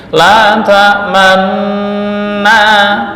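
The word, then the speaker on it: لَا تَأْمَنَّا: Maka cara membacanya adalah dengan memonyongkan, bukan membaca dhammah, bukan la ta'manuna, enggak, tapi la ta'manna, la ta'manna.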